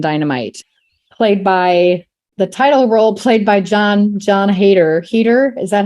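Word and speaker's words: Heder: Heater, is that how you say his name?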